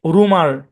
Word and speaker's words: rumour: এই শব্দের উচ্চারণ হচ্ছে রুমার। হ্যাঁ, কি উচ্চারণ? রুমার। অনেকে এটাকে রিউমার বলে, রিউমার না, রুমার।